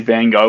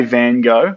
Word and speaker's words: Van Gogh: Van Gogh is American. So if you want to say it correctly in Dutch, the correct way is in Dutch, it's van, so van, and Gogh. Gogh. So Van Gogh. That's how you say it correctly. That's in Dutch.